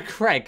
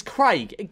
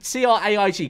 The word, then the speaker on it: Craig: They go Craig. It's Craig. C-R-A-I-G.